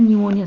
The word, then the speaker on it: pneumonia: तो यहाँ पर क्या है, न्यूमोनिया से पहले P लगाते हैं फ्रेंड्स, P साइलेंट होता है यहाँ पर, ठीक है, PNEUMONIA, ठीक है फ्रेंड्स।